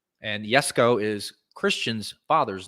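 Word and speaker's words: Jesko: it right koenigsegg yes go absolute yes it's pronounced yes go and yes go is christian's father's name that's why that's what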